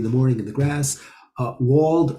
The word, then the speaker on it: Wald: Wald or Wald, as it's originally pronounced, is a forest.